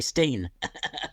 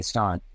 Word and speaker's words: Stein: good okay I mean when you think of a a Stein of beer s t i n you don't say Steen no um but yeah